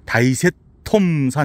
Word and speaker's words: 疊石塘山: 다셋 단산 그 여기 현지인들은 이걸 다이세 톰사 이렇게 발음 하더라고요 그 여기가 이제이 여기서도